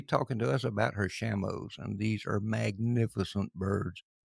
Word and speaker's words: Shamo: But as far as I understand, it is Shamo.